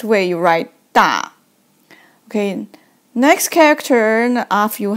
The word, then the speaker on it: 大: Okay, it means pronounced as 大.